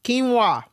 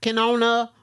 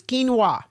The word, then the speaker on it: quinoa: So, if you did not know, that word is pronounced quinoa, not canona or quinona or whatever the hell y'all been calling it. It's quinoa.